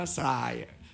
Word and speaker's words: ทราย: ได้ ใช่ มั้ย ไม่ ก็ อ่าน ว่า TR เหรอ ทราย ไม่ มี ใคร อ่าน ไย อ่าน ว่า ทราย เพราะ ฉะนั้น มัน มี การ ออก เสียง ซึ่ง ซึ่ง มัน เป็น เสียง ไทย อ่ะ บาง ที ก็